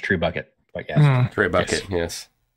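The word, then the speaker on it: trebuchet: big like a yeah pulley or something yeah Tre bucket I mean that's the minu that I used but it's not actually Treet it's pronounced true bucket but yeah Tre Buck yes alrighty so uh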